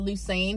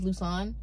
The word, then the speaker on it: Lusane: That's the same thing as with your middle name when I said Lusane, but it was Luson. I fixed it. But that's understandable, though, because my name is spelled Lusane. It's just pronounced Luson.